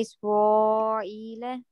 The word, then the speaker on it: إسرائيل: من بني إسرائيل. Here, you are pronouncing a. Okay, be careful. إسرائيل.